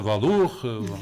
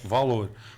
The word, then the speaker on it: Valour: e dar valor e muitas pessoas pronunciavam de uma forma francesa valor valor portanto mas é valor portanto Vargem mais lorol